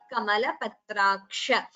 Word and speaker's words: कमलपत्राक्ष: So jihva muliya, visarga followed by ka. You pronounce it as tvattah kamalapatraksha. And kamalapatraksha is a hrasva, that is It is a short vowel, so please do not prolong it.